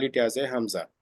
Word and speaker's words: Hamza: Al Hamza I have to I have to pronounce it Hamza actually it comes with the fata Hamza in